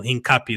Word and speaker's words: Hincapié: Hincapie is how you say it.